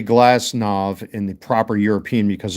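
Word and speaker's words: Glasnow: And I say Glassnav in the proper European because a W at the end of the name is usually pronounced as a V.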